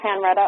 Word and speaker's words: Henriette: Henry by h JN r ett a's Bridget Henriette O'Brien can also find my facebook pages Bridget